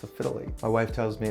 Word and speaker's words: phthalate: It's a phthalate. My wife tells me it's pronounced phthalate.